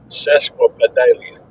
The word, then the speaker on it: sesquipedalian: Uh, Sesquipedalian is spelled Sesquipedalian. Sesquipedalian.